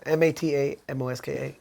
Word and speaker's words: Matamoska: me see if I could say this right Mada Mosca is that it pretty close pretty close okay oh it's supposed to be pronounced map that Mosca mata MOS ka okay yeah I just said it like a